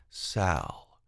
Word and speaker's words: Salle: And he responded, "Salle," pronounced Sal or Salle.